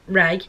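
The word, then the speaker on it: Rae: I actually went to uni with a girl called Ray, pronounced Ray, but spelt R-A-E rather than R-A-Y.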